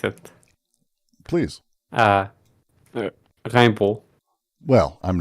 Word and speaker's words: Rimbaud: Don't pronounce the D in Rimbaud.